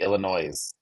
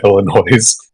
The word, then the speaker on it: Illinois: the Illinois of the Illinois of the Illinois um for those of you who don't live in Illinois there is no you do not pronounce the S at the end of that um unless you want